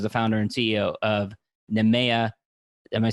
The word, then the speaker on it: Nehemiah: He most recently was the founder and CEO of Nehemiah. Am I saying it wrong? I'm probably saying it wrong. Nehemiah, you got it.